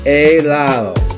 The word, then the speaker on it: helado: Now when you say it, you don't say the H sound. You don't say the H like you do in English or hello. Alright? But it's a silent letter. You can't really hear it.